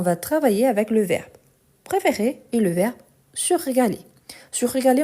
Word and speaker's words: préférer: Mais quand on conjugue, donc préférer, le E bien prononcé, pourtant, quand on l'utilise conjugué au présent et aussi au futur simple, il faut faire attention.